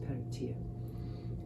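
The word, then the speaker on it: Peredur: Peratir, who of course, it's spelt Peratur, it's pronounced Peratir.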